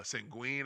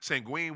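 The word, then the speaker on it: Şengün: I don't know we call him sangon but sangui I guess that's the way you're supposed to no no no sangui is the nickname uh sangen I guess that's the way you supposed to pronounce it sangen with uh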